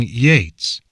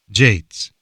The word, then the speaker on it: Yeats: are, in English, discussing Yeats, which Ancash pronounced Jates. "Not Jates, Yeats," says Herakles. "What? Yeats, not Jates. Sounds the same to me. It's like the difference between jello and yellow.